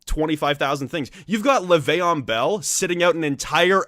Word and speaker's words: Le'Veon: You've got Le'Veon Bell sitting out an entire NFL season just because he didn't like his coach. Le'Veon, not Le'Veon.